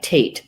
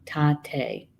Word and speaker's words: Tate: And it's it looks like Tate. That's how you would pronounce it in English. This is Lakota based, and so we're learning some of the Lakota words. And so I believe this would probably be pronounced Tate, and it means wind.